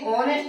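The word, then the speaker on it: honest: अब देखिए जो ऑनेस्ट है, बहुत सारे लोग इसको ऑनेस्ट पढ़ते हैं तो उनको प्रोनाउंसिएशन यानी उच्चारण गलत होते हैं। हाँ, तो ये ऑनेस्ट है, जब ओ आ रहा है हमारा ओ,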